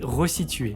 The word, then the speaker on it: resituer: Il existe 3 verbes pour lesquels on ne rajoute pas de deuxième S. Mais on fait le son comme s'il était là. C'est le cas de ressaler, ressalir et resituer, qui se prononce bien comme ça, même s'il ne possède qu'un seul S.